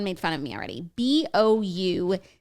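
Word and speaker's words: bouclé: fun of me already b-o-u-c-l-e boucle oh i said buco e how do you explain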